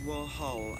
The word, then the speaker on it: Warhol: It's Warhol, actually. Hole. It's hole. As in holes.